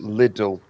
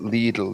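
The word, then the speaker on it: Lidl: the the sensible way i'll pronounce it liddle because i got told off for calling it legal the other day so that's things like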